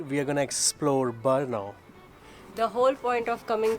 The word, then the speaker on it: Brno: are going to explore Burno the whole point of coming to Burno I love saying berno because that's how you say it barno so the whole idea